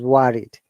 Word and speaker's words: worried: WO, in this case, it is not worried, it is worried.